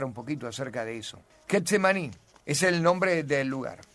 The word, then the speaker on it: Getsemaní: La palabra viene del arameo, no es una palabra griega, no es una palabra hebrea, es un arameo del tiempo del Señor y su pronunciación es Gat-mané, que significa prensa de aceite.